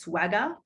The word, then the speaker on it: SWGAH: The acronym for that is SWGAH, pronounced swagger.